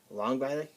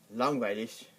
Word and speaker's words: langweilig: Some people pronounce it langweilig. They stop the G pretty quickly, or they'll pronounce it like a CH at the end, or like langweilig.